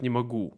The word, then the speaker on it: могу: I think again, maybe in ooh sound. He said не могу дать, instead of не могу. You see, ooh. Not ooh, it's ooh, ooh. Your lips should be very round.